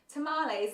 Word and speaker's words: tamales: Are you saying the hot tamales are amazing? Or are you saying the Dunkaroos are amazing? Tamales is how you pronounce it. Tamales, not tamales.